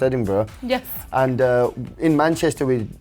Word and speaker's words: Edinburgh: We discussed it's pronounced Edinburgh.